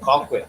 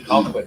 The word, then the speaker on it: Colquitt: We start our morning off at Colquitt Police Department, Spell that. How did you say? Oh, Conquit. That's tribal police. and then Colquitt, Georgia. Oh, okay. Colquitt.